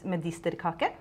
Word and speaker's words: medisterkaker: Yes, some of this medisterkaker. Medisterkaker. Did I pronounce it correctly? Yes, it was very good.